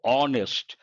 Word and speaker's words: honest: we have to say honest and because H is silent h is mute we have to say an honest man and in this context